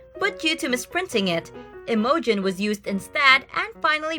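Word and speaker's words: Imogen: united kingdom this is a girl's name and pronounced as emojin the name is of celtic origin and means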